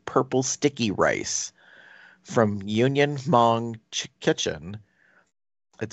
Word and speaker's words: Hmong: Garnished with fresh herbs and finished with Union Hmong's Kitchen's crunchy chili aioli. Okay, I'm gonna pause you here just to correct you. It's just Hmong. It's not. You don't pronounce the H at all.